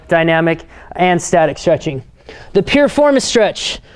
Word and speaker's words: piriformis: and static stretching the piriformis stretch some people mispronounce it and call it the performance stretch but it's named after